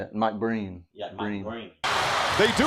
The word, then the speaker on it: Breen: Mike Breen.